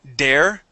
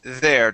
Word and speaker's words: there: okay okay there yeah so you were saying dare okay so remember okay there try that one more time there there all right very good